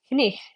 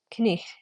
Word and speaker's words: night: But the G and the K, these are not silent in this word. Night would be pronounced knich. Knich. Notice that I am weakly pronouncing the GH here. Knich. It's not a hard G, but it is pronounced nonetheless.